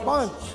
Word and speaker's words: Sponch: Oh, Sponch. Okay, Sponch. You gotta get a little Mexican. Sponch. Sponch. Yeah. Yeah. Does that sound Mexican? Yes, very much so. Sponch.